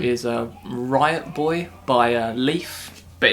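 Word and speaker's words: Le1f: a riot Boy by Leaf but it's spelled like L e1f but he's a guy well that's yeah I don't it's just but they pronounce it Leaf but um he's one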